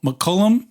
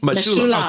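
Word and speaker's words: Mechoulam: While we're talking about research, today is Raphael McCullum. Am I pronouncing that? Remember? It's his 90. Mishulam.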